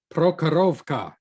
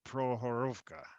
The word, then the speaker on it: Prokhorovka: this game came out the consensus seems to be you don't pronounce the first k so pro horowka if i remember my